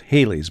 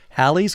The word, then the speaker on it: Halley's: I used to think it was Halley's, but I read the name rhymes with valley, so it's Halley's Comet.